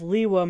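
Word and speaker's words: Lewa: Let me explain it like this. Takoro, Tahu. Kokoro, Kopaka. Gakoro, Gali. Pokoro, Pohatu. Onukoro, Onua. Likoro, Lua? Admittedly, it also could be pronounced as Lekoro, but either way, Lua doesn't match up. Pronouncing it as Liwa maintains the synergy of the naming system.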